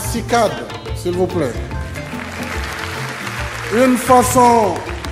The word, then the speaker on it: CICAD: Ce centre magnifique, édifié sur 58 hectares, miroir de Baobab qui s'appellera désormais Centre international de conférence Abdou Diouf, qu'on prononcera CICAD, s'il vous plaît.